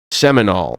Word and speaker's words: Seminole: Is it Seminole? Do you understand, Gord, how to pronounce this? You were in Florida, Seminole? right? Seminole.